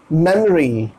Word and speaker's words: memory: simple hard नहीं है, इससे ये ओ हट जाएगा, ओ खत्म, मतलब समझिए ओ हो गया साइलेंट, आप इसे प्रोनाउंस करेंगे मेमोरी, मेमोरी, मेमोरी, मेमोरी नहीं मेमोरी,